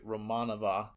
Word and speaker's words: Romanova: Yeah, and so they hire a pretty girl who Tatiana Romanova, or sorry, as they pronounce it in the movie, Romanova.